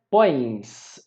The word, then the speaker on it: põe: Repara que aqui, ó, ele põe, eles põem, a pronúncia é a mesma, não é? Mas eu coloco um M aqui para diferenciar o singular do plural, tudo bem? Uma outra coisa é que eu coloco tio, se vocês perceberem, põe, a gente termina a pronúncia pelo nariz, não é? Esse ditongo aqui, ele é anasalado.